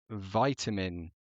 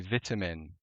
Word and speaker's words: vitamin: I'm going for uh I think Americans say vitamin better than we say vitamin.